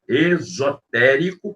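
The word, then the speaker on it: exotérico: Existem duas palavras com a mesma pronúncia, né? Esotérico, com S, esotérico, e existe esotérico com X, ok?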